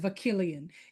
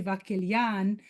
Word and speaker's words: Vakilian: And for those of you who care to know, the pronunciation of my last name is Vakilian. It's actually Vakilian. It's Persian.